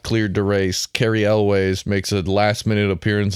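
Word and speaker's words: Elwes: and Carri Elway's uh crashes how do you pronounce it like that what do what elways what is it Elis it's elways so Carrie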